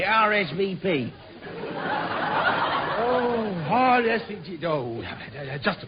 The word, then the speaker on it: RSVP: this RZ up Sir the what the risb well you pronounce it RSVP oh yes oh just